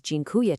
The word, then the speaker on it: dziękuję: Dziękuję. It's pronounced roughly dziękuję.